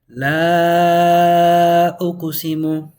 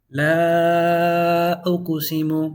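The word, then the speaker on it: لَا أُقْسِمُ: And right here, I just put a bunch of alif so you can know that it's extended. That's how you're going to read it. La, extended. And this is the way you're going to read it. La uqsimu. If you want to be super technical, on this one, you extend it 4 or 5 counts.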